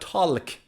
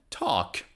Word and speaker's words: talk: letter is l now l is silent in talk talk not talk no talk i want to talk